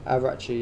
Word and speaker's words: Araghchi: W, Araghchi. Is that how you say his name? Araghchi, yeah.